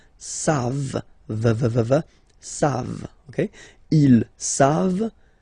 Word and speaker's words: savent: You don't pronounce it, so you get the sound savent, v-v-v-v, savent, okay?